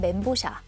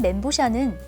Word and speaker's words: 멘보샤: 멘보샤라는 이름은 중국어로 빵, 面包, 그리고 새우, 샤를 합친 말인데 面包 샤를 엉터리로 읽은 발음이지만 이미 사람들에게 오랫동안 이렇게 불려서 그냥 멘보샤로 굳어지게 됐습니다.